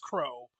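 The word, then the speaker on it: Kuroo: Like spelled K U R O O like Curu or Kuro, but it's just pronounced Crow like a bird.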